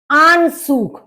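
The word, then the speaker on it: Anzug: माटेल मंटेल मतलब कोट आन सूग आन सूग ए का आ हो गया और जड को सा की तरह से बोला जाता है यू का उ हो गया तो आन सूग आन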